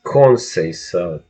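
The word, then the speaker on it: Conceição: fabulous Muratalla versus the tricky, dodgy Brazilian Robson Conceicao. By the way, that's how you pronounce his last name, just so you know. Now you know Conceicao.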